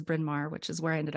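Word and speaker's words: Bryn Mawr: remember what it was she thought it was Brena or something like that now I know that it was brinmar which is where I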